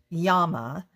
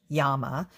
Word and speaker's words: llama: lesson today is a yama uh that's how lama that how we pronounce it is pronounced in the spanish uh language yama um and uh it's